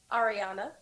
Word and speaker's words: Arriana: Arriana.